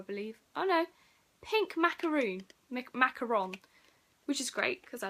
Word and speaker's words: macaron: Macaron. Which is great, because I love macaroons. I'm probably pronouncing that wrong. I've always pronounced them macaroons, but there's only one O.